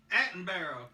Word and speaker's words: Attenborough: Attenborough.